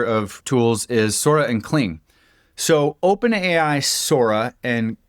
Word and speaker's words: Kling: The next cluster of tools is Sora and Cling.